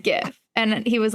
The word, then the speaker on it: GIF: like no he said GIF and he was like but everyone pronounces it gif and I was like the guy who made the word says it's GIF like Jiffy peanut butter but people say GIF